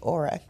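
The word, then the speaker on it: Oura: Aura or Ura? I'm upset that they call it Aura when it's spelled Ura.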